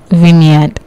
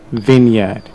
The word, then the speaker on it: vineyard: mispronounced vineyard so what should be the correct pronunciation vineyard vineyard so in effect when you have v-i-n-e that